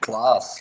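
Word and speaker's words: Klaas: name is that class clause it's a pronounced class it's like a belgian pronunciation of let's say santa claus something like that okay all right well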